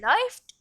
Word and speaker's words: läuft: umlaut in the stem, the pronunciation is different. It is oi. Ich laufe, I run or I am running. Du läufst, you run or you are running. Läuft, he runs or he is running.